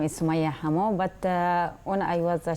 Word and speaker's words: Summayya Hammo: Yeah, my name is Summayya Hammo, but when I was a child, my mom called me.